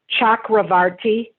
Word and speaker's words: Chakravarti: Vishwanath, and the C is a ch. Chakravarti.